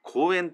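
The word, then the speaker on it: 紅炎: 日本語では紅の炎と書いて公演とも読んでいますそしてこちらの画像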